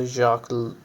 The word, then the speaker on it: Jacques: याक डरीडा कर दिया था।